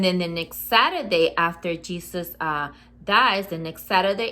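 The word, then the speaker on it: Jesús: and the you and you're supposed to say jesus jesus say it god in spanish uh is written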